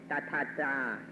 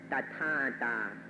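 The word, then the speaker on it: tathatā: This thing that you maybe have never heard about, in Pali it's called tathata, or tathata. We can use either of these pronunciations.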